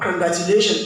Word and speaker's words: congratulation: So with your knowledge or pronouncing it where will the stress be on the word congratulation? Give me the level. Which level will we receive the stress?